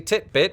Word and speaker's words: titbit: today is titbit basically titbit which for those of you wondering rhymes with Fitbit is an alternate spelling